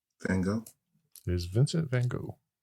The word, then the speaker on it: Van Gogh: It is Vincent Van Gogh. Right. Or Van Gogh, if you want Van to Gogh.